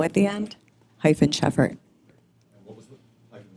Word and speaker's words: Sheffert: with an O at the end, hyphen Sheffert. And what was the hyphen what? Sheffert.